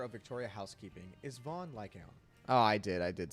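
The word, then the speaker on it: Lycaon: out hmm yeah just make sure the own sounds like cone like owl like gown I said like ion the first known Raider of Victoria housekeeping is Von lycount oh God now annoying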